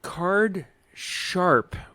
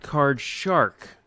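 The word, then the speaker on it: cardsharp: Card Sharp with a P as in Paul at the end, not Card Shark with a K.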